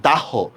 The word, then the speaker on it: দাহ্য: নাই আচ্ছা সেম দেখেন আমরা বানান লিখতেছি এটা কিন্তু দাহ নাকি লিখতেছি কিন্তু আমি দাহ উচ্চারণ করতেছি কিন্তু দাহ্য দেখছেন বানান আর উচ্চারণ সেম না আপনারা কমেন্টে লিখছেন সুনামি